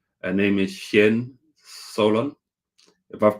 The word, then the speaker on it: Cien Solon: You did pronounce it correct. That is Cien Solon.